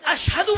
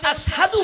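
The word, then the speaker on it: أشهد: বেলাল যখন আজান দেয় আশাদু বলতে পারে না। উচ্চারণ আশহাদু হয়।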